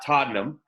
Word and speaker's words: Todnem: We've got Melanie Lynch and Todnem. I had to ask how to pronounce the name. I said it right, correct? Oh, yeah, you got it.